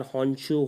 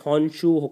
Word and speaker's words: Honshu: They are Honchu, Hokkaidu, Kyushu and Shikoku. Obviously, pardon my Japanese pronunciation if anyone is hearing from there because I don't know how to pronounce them. But it's Honshu, Hokkaido, Kyushu, and Shikoku.